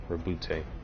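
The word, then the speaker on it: Roboute: It's spelled Roubute. Rabute.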